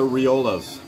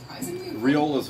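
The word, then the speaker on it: Rioja: favorite wines is the riolas and that's how you pronounce it I'm assuming riola riola riola the grapes whenever I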